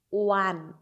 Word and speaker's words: one: telling I am telling what is the pronunciation one w w sound and W is consonant okay if I say see again I'm giving example uh suppose this word starts with o owl and this word also starts with o one see the difference between the pronunciation of both the words here one W one one one w r and here ow owel sound so that's why before